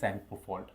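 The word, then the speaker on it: Tsangpo: Indus सेंगपोल्ट। क्या दिया गया है? Indus सेंगपो fault. बच्चों सेंगपो में आपका टी साइलेंट रहता है।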